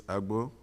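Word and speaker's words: Agboh: A-G-B-O-H. And pronounce it again? Agbo. Just like it's spelled. Okay, very good.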